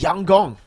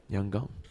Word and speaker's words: Yangon: By the way, Lfell, apparently YG is pronounced Yang Gong. Yang Gong. Yangong.